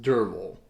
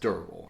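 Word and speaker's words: Derfel: a first-person narrative perspective of a character named dervil now it's spelled durfl but it's pronounced durable uh i had the hardest time wrestling with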